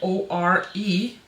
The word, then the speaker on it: Ore: As I learned, if you watch the swatch video, I had really problems to pronounce this, and I ended up spelling it O-R-E, which is what is on the back of the palette.